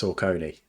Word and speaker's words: Saucony: It's pronounced Saucony.